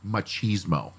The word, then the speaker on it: machismo: These, dude bros that you always talk about, We've gotten several cards and letters saying that it's pronounced machismo.